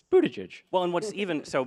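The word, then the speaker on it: Buttigieg: there's an easy way to do this it's Buddha judge well in what's even so my one of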